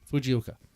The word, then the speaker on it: Fujioka: Yeah, Fujioka.